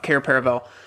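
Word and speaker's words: Cair Paravel: have this whole they find their way to car paravel is that how it's pronounced I can't remember yeah yeah that's right car paravel where they see um procession the Old King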